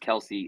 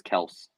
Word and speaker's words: Kelce: I guess he just now decided to say it's not pronounced Kelsey, it's Kelce.